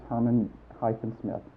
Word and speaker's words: Herman-Smith: How do you spell it? Lewis. And is it Herman-Smith? It's Herman-Smith, yes.